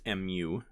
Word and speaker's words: mu: the greek letter mu kind of looks like a u mu and that's mu phonetically and then all that is